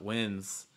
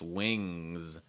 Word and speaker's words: wings: those ngs it's like it's not an n sound so it's not winds it's not lens it's wings wings watch out for those